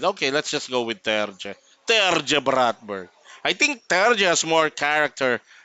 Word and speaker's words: Terje: So what we did is we uh, we asked Terje if he wants it pronounced as Terje or Terje, and he said he likes it pronounced as Terje and not Terje.